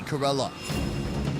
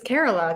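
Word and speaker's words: Kerala: know his name yeah Cara like it's carola guy carola not uh let's please you know carola India beef is usually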